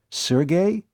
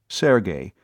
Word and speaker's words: Sergey: she'd been playfully pinched Sergey you mean Sergey pvic the fiend of Florence she pronounced the name properly Sergey instead of Serge as too many people were prone to do sounds like the same